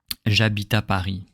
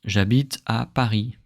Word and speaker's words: j'habite à Paris: We will not cut the word and pronounce them as they are written, but we are going to connect them all. We'll say j'habite à Paris, j'habite à Paris, j'habite à Paris, and my voice doesn't stop.